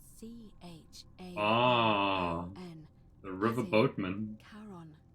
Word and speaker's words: Charon: It's just as you described it, only your pronunciation is a little off. The name you heard wasn't Karen. It was C-H-A-R-O-N.